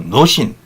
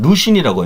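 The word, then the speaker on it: 魯迅: 노신. 요즘은 루신이라고 이제 발음하죠.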